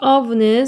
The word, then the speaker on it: of: 그 다음에 여기 of는 삼각기호 발음이 V 발음이기 때문에 삼각기호는 입모양 삼각형 발음 그 다음에 F는 V 발음 of 이렇게 돼서 what do you think